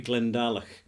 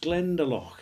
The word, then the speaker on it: Glendalough: So in Ireland, it's pronounced Glendalough. It's kind of softer, more lilting and all the rest of it.